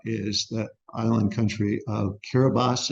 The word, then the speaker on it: Kiribati: the island country of kiribas it looks like Kiribati but the way they pronounce it is kiribas and it's it's a